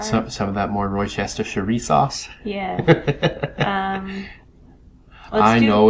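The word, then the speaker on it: Worcestershire: UK and over there I guess they just call it Worcester but it's it's worcesters sure which is stupid because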